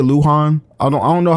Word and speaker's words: Luhan: Yeah, that's how you say it, Luhan.